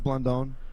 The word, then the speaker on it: Blandon: Fritz Blandon. Fritz Blandon. All right. They are. He's Nicaraguan. Yeah. You're putting the accent on the O.